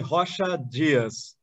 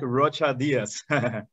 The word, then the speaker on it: Rocha Dias: wrong import in portuguese would be joshua diaz but in english it's like rocha diaz portuguese that's yeah that's